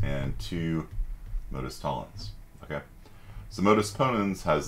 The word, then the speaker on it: Tollens: And modus Tollens, which I've heard some people pronounce Toyens. I'm just going to call it Tollens because that's how my professor spoke it.